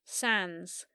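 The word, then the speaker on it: Sandys: our surname is it Sans s a n d y s pronounced Sans with a silent y that's just a little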